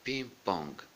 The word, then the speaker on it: ping-pong: Le ping-pong, le ping-pong, le ping-pong. Alors le G, le deuxième, se prononce, le premier G ne se prononce pas.